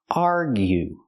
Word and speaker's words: argue: let's talk about argue argue make the you sound like you argue example they are arguing